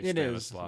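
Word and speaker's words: Stanisław: And then finally, there was a cat by the name of Stanislaw Ulam, and that is how you say Stanislaw.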